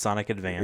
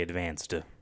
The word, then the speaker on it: Sonic Advance: It's Sonic Advance. Advance just like just like you mean it's the Game Boy Advance, so you don't say advanced, but although I did as a kid.